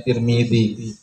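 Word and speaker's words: ترمذي: Nah, di sini kan diharokati dengan bikasrati ta wa kasrati mim. Berarti namanya mu'alif itu lebih condong kepada dengan membacanya Tirmizi.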